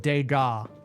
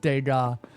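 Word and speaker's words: Degas: Sono, respectfully, it's pronounced Dega.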